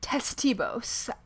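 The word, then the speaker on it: Ctesibius: into play there, but this is one of those Greek names with a silent C followed by a consonant. Oof. So Testibos, I'm going to go with.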